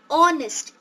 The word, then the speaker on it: honest: The first letter in these three words might be H, but while you pronounce these words, you say are, honest, air.